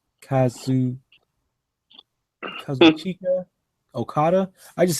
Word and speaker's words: Kazuchika Okada: I keep forgetting how to, or I keep forgetting how to pronounce his name. Kazu Kazuchika Okada.